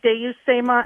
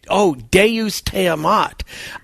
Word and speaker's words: Deus te amat: When you say Deus Stema. Oh, no, you're saying, Deus Teamat. I understand what you're saying. Now I understand. Pronunciation, yeah. Yeah, Deus, Latin for God, te, meaning you, amat, love.